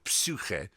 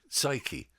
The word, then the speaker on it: psyche: Yeah, and as kids we say, why is the P silent?